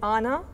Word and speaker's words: għana: The singing is, we call it Ana. It's pronounced with G-H-A-N-E, and the first vowel is elongated because of D-G-H, which doesn't sound in this case.